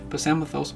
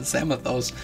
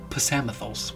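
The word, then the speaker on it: Psamathos: I always pronounce it samios but then the story says that he pronounces the p in front of it very precisely so I get I guess it is pthos which I sure whatever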